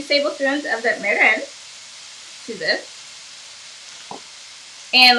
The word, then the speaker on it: mirin: Marin? Oh, mirin.